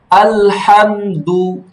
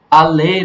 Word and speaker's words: الحمد: সাকিনের উচ্চারণ সবসময় ধরে রাখবা, ছাড়বে না। আল, আল, আবার যদি এরকম করো আলে, তা তো ছেড়ে দিলা, হলো না।